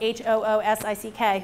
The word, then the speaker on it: Hoosick: For those of you who don't know, it's spelled H-O-O-S-I-C-K, Hoosick.